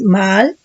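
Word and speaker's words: מעל: La traición, de acuerdo al diccionario del Strong, del hebreo 4604, que es Maal, doble A, acento en la segunda A, que es raíz primaria, que quiere decir cubrir, actuar encubiertamente, traicioneramente, cometer pecado, hacer iniquidad, rebelarse, rebelión.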